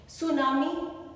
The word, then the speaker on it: tsunami: लेकिन आपके टीचर ने कहा K साइलेंट है. सुनामी तूफान है.